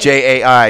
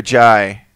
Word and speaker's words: Jai: J-A-I. Is it J or Jai? I've heard it pronounced Jai.